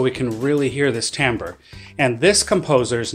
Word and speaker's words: timbre: It looks, if you spelled it on a chalkboard, it might look like the word you say when you cut down a tree, timber, but it's actually pronounced timbre.